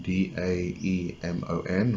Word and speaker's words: daemon: Whereas the person who says you can work with angels considers demon, the actual word demon, D-A-E-M-O-N, or maybe we should pronounce it daemon, to be, had to have its actual roots in meaning a being which is a divine intelligence.